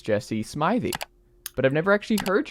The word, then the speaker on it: Smithey: No, it's Smithey. Smithey is how I always tell people on the phone, just Smith with an EY on the end.